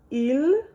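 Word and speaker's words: ils: then we use l make sure you notice ill even though there's an S here the pronunciation is the sin IL ill Al and we will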